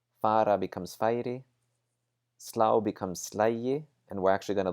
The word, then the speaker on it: slægi: So taka becomes tæki, fara becomes færi, slá becomes slægi, and we're actually going to look at these different forms to see how they work. Ég slægi, and notice that the G is pronounced like a J.